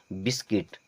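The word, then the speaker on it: biscuit: आई एस बस अब सी यू आई टी इसे कुट नहीं पढ़ेंगे किट पढ़ते हैं क्या पढ़ते हैं किट क्योंकि यू होता है साइलेंट अब इसे क्या पढ़ेंगे बिस्किट इस प्रकार से यहां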